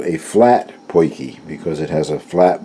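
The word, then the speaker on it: potjie: off it is pronounced pokey and it's an Afrikaans word from South Africa but it is spelled P o T Jie and in their language the Afrikaans language is pronounced pokey this is called a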